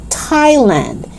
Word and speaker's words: Thailand: the first one is thailand you don't pronounce the h you don't pronounce it